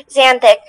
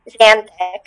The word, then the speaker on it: xanthic: Xanthic. Does it have the Latin adjective ending ic meaning relating to? You're on the right track. Xanthic.